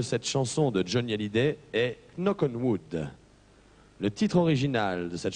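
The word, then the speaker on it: Knock on Wood: titre original de cette chanson de johnnyid est knockenwood le titre original de cette chanson de Johnny ALID est noenwood c note marqué faut prononcer no parce que le K devant le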